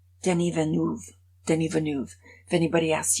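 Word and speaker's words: Villeneuve: science fiction but I did learn how to pronounce the director's name Denny venu Denny venu if anybody asked you to say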